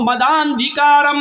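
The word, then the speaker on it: मदान्धकारम्: अज्ञान हेतु किरत मोह मद अंधिकारम नाशम विधायम, अब इसको मिलाकर इसके उच्चारण को यूं पढ़ा जाएगा, अज्ञान हेतु किरत मोह मदांधिकारम नाशम विधायम हितदोदयते विवेका, ये उसका प्रोनाउंसिएशन होगा, ये उसका उच्चारण होगा, ये ऐसे पढ़ा जाएगा।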